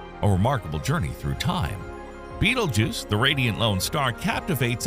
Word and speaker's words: Betelgeuse: Pronounced Betelgeuse in a quirky twist, its name traces its origin to the ancient Arabic phrase Yad al-Jawza, meaning hand of the central one.